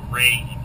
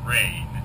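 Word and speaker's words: reign: reason that we say rain. English instead of Reagan. Sometimes like a president to say. That's also Reagan. R-E-I-G-N is rain, for one reason and one reason only. It's because the G is silent, just like it is in Swedish, surprisingly.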